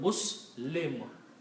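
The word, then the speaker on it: مسلم: We pronounce this word Muslim.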